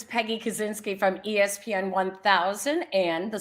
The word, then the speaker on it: Kusinski: How do you pronounce it in Chicago? Well, it's Kusinski, but like my grandfather was Kusinski.